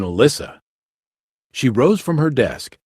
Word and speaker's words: Elisa: teacher called her name pronouncing it more like alicia than alyssa she rose from her